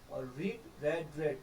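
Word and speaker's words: read: की रेड और नवल रेड तीनों स्पेलिंग जो होती है बट जो पालनपशिशन है वो डिफरेंट होता है सेकंड फॉर्म को हम रेड प्रोनाउंस करते हैं की रेड और उसने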